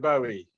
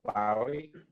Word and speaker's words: Bowie: David Bowie. Or Bowie. I don't mind how you pronounce it.